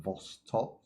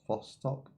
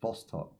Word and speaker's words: Vostok: Now, once you leave, I do think that is perma death territory because that is the Vosto. Vostok. I've got to learn to pronounce this. Vostok.